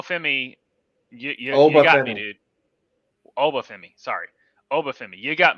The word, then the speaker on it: Oba Femi: champion, which I always forget always get his name wrong. But Noah Femi. And Noah Femi, you got me, dude. Oba Femi, sorry.